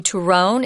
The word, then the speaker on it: turrón: I'm going to say turrón, if that's okay. Sounds good to me. You don't have to roll your R's, but if you can, go for it because it's fun.